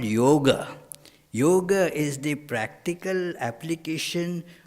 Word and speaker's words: yoga: not that that that it is pronounced first of all wrongly yoga it is yoga and then it doesn't